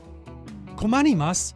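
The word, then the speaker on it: 困ります: humans with not nice Kimani mas means to be in trouble Kimani sounds like the word communist and Mary imagine you marry a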